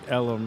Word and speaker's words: Ellum: Well, no, but the story is that people couldn't pronounce Elm up far this way, up deep Elm Street. They would call it Ellum. So they called it Deep Ellum.